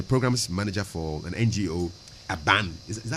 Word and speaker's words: ABAN: She's a programs manager for an NGO, ABAN. Is that how to pronounce it? Yes, ABAN against neglect.